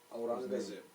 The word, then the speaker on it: Aurangzeb: How do you pronounce his last name? Aurangzeb. Sorry, that's his name, of course, not last name. The emperor. Aurangzeb.